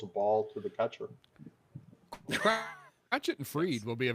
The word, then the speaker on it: Crochet: I've heard it pronounced Crotchet, just like Michael Peanuts. Crotchet. That's like Miami Vice.